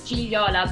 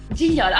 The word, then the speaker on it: Gigliola: My name is Gigliola, but I tell you, nobody can say my name, even in Italy. I mean, it's so difficult. Yeah, So yeah. the second G is silent. Is it Gigliola? Gigliola.